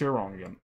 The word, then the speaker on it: Iranian: you pronounced it wrong it should be pronounced Iranian like being a contrarian sometimes all right after